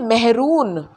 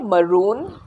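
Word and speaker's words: maroon: हमको बहुत जरूरी है इसको बोलते हैं मेहरून यह है मैरून और यह है वह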